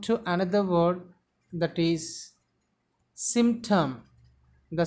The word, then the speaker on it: symptom: Sa sound, e sound, ma sound, pa sound, ta sound, a sound, ma sound. Symptom. The stress should be given on very first syllable.